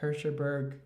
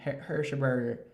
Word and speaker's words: Hershberger: bangs by Sally Hershberger she burped her shurberg and never pronounce her name hit hershberger sally hershberger okay and just an inter